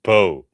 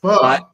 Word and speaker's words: pho: That's pronounced Po. No, it's not. It's pronounced pho.